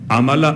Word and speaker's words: عملا: ہے اور یہاں عملا۔ عملا عین سے نہیں ہے، الف سے، حمزہ سے ہے۔ ہو سکتا ہے میرا